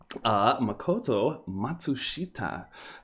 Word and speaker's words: Makoto Matsushita: Makoto Matsushita. Been saying that name wrong. I forgot the little extra S in there for a while.